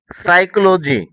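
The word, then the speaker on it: psychology: তো তোমরা যখন ইংরেজি পড়বে তখন এই পি এর পরে যখন এন অথবা এস দেখবে তখন তোমরা এই পি এর উচ্চারণ করবে না।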